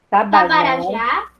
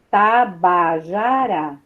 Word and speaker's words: Tabajara: Tupi, Tupini, Guarani, Tamoios, Tabarajá. Peraí, calma, Laura. Laurinha, Tabajara. Você está mudando a ordem da sílaba. Tabajara. Tabajara. Isso.